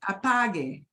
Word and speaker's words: apague: The U stands in there Okay. to make the G go to, G. yeah, go to the hard G sound.